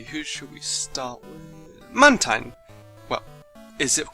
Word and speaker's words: Mantine: Well, if we break the name down, it's Mantine. So yeah, I've always pronounced it Mantine. Even the anime pronounces it as Mantine. Mantine! Now, Mantine! Mantine! Mantine? But the last part is spelled T-I-N-E. Tine.